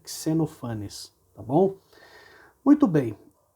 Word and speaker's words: Xenophanes: fácil para a gente, mas é importante saber que essa seria a forma correta, Xenophanes, tá bom?